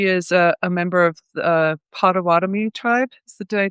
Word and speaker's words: Potawatomi: She is a member of the Potawatomi tribe.